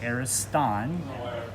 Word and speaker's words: Ariston: The correct pronunciation of the restaurant is the Ariston Cafe. It's actually Greek, which means the best.